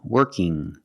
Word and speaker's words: working: When you have ing at the end, it makes a sound working. Not working g. There's no g sound. It's the sound working.